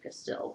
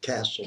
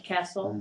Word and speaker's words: Cassell: you Ed or Mr casle which are you comfortable Ed's all right but we pronounce it castle castle okay whoa well I